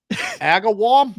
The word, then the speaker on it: Agawam: Agawam.